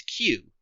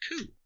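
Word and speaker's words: 九: Back in Japan, though, the word for 5 is pronounced as go, and 9 is Q, which is sometimes lazily, or by children, pronounced ku. Thus, May 9th is Gokyu, or Goku.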